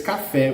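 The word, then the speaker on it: café: in the last silhouettes cafe okay as it is running away from the the rule the rule that must be stressed in the penultimate we must have to use the accent in the stressed syllable okay to tell there is an exception in this word okay so it's caffe with an accent can you see every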